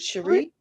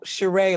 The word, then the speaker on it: Sheree: Is it Sheree? Yeah, that's why I put so many e because people go shereé like they watch um you know one of them housewife thingies.